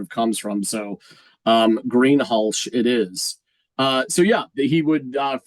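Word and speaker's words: Greenhalgh: h yeah it's pronounced green hulsh hulsh okay like an sh rather than a j yeah I know someone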